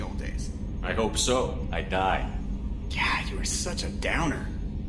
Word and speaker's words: EDI: airlock is ajar why are you named eating IDI is the phonetic pronunciation of EDI that is an acronym for